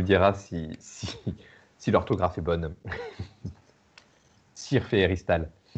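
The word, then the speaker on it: syrphe: déguisées en abeilles ou en bourdons, s'appellent des cirphes.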